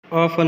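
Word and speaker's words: often: नाक में जो है K साइलेंट, ऑफन में T साइलेंट है और गाइड में U साइलेंट है।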